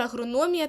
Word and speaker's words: агрономія: слово пішло від Агроном Агроном має наголос на о Отже агрономія теж буде мати наголос